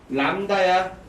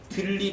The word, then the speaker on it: 람다: 람다야. 들립 아니고 람다야. 람다라고 읽어야 돼.